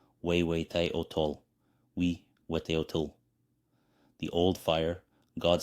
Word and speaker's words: Huehueteotl: The god Huehueteotl pronounced Huehueteotl, Huehueteotl.